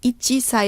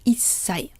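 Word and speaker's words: 一歳: So instead of ichisai, it becomes issai.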